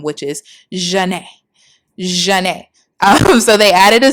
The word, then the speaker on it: Zhané: So, Renee is like, "Okay, let's combine our first names and we'll use like the French pronunciation of them, which is Jane.